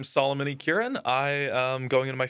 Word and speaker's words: Yi-Kieran: Solomon E. Kieran. That's how you pronounce that last name too.